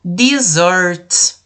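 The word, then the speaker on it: dessert: bebidas e o último disorte se escreve com dois ésses mas a gente fala com som de z desordem que são as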